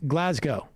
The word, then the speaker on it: Glasgow: stop pronouncing glasgow wrong you don't pronounce the w like with snow glasgow it's pronounced glasgow same with moscow yeah